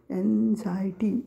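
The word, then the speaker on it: anxiety: झाय केलेला आहे ई आणि टी वाय टी एन्झायटी एन एक्स आय इ टी वाय एन्झायटी म्हणजे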